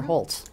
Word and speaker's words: Holtz: Is it pronounced Holtz or Holtz?